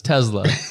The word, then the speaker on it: Tesla: that hard Z Center in there so it's Tesla fair enough Tesla the Tesla cyber truck we've